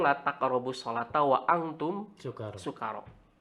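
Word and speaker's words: سكارى: taqrabus sholata wa antum sukaro. Jadi pakai sin ya, jangan shin. Kalau shin artinya syukur. Kalau sukaro itu mabuk.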